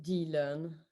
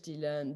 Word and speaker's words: Dit Learn: So, and in French, Dit Learn, Dit means to say, and learn, of course, to learn. Dit Learn, and but as you pronounce it in English, is unlearning.